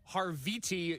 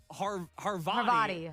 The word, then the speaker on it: Havarti: includes steak nuggets with Harviti cheese, crispy onions, tangy pickles. I don't and think that's how you say it. How do you say it? Havarti. Harvati. Oh, okay. It sounds like her body.